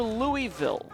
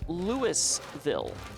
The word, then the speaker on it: Louisville: myself, is getting to Louisville, or I should say it properly, Lewisville, which is like the main city in Kentucky in this map area.